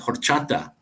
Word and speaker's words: horchata: there there this one called horchata or not you don't say the age or Chata that's a drink it's